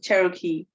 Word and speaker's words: Cherokee: It's was more interesting than the first fire, like how do I pronounce Cherokee? Yes, Cherokee.